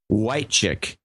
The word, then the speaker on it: Whitechick: Dan Whitechick in Beech Grove, Indiana, double nickels on the dime. I'm going to have trouble remembering that it's pronounced white chick, but I'll try.